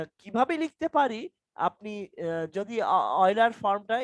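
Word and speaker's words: Euler: কিভাবে লিখতে পারি, আপনি যদি অয়লার ফর্মটা এটাকে ইউলার, ইংলিশে ইউলার মানে লিখতে গেলে লেখে তো, বাট এটার উচ্চারণ অয়লার, OILER, অয়লার। তো এখন এই জিনিসটাকে যদি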